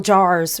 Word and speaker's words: Maher: Like maybe he just needs more Bill Jars rhymes with Mar, you know, around him.